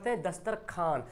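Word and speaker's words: دسترخوان: है खाजा लिखा हुआ ख्वाजा लेकिन वो को साइलेंट कर देते ख्वाजा बोलते हैं है ना दस्तरख्वान लिखा हुआ है दस्तरखान अच्छा बहुत लोग ख्वाब बोलते हैं क्या हमें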